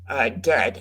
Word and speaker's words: Dehd: Days from this band Dead, and that's spelled Dehd.